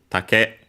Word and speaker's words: 竹: The strictly Japanese kunyomi reading is take, unaccented, which is the word for bamboo on its own, and chiku, the Chinese reading found in compounds.